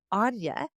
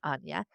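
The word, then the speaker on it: Áine: there's the Celtic goddess Anya, Aine, and I believe it's pronounced Anya.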